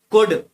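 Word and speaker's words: could: सिक्स में कुड, एल, L under silent रहता है।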